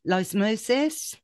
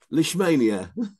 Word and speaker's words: Leishmania: No, we discussed with Dominic Dyer, because he has a Romanian rescue, about, hang on, do I pronounce this right? Lysmosis? Leishmania.